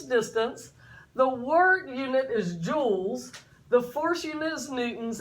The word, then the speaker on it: joule: The work unit is joules. The force unit is newtons, and the distance unit is meters. Joules sounds like a diamond, but you notice it's spelt differently.